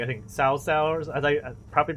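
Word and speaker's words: 曹操: Not Cao Cao, is it like I think Cao Cao, as I properly pronounce it. Us Americans called it cow for the longest time.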